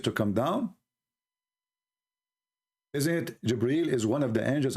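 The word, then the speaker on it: جبريل: It's not Gabriel, by the way, it's Jibreel. Even Muhammad, he got the name wrong.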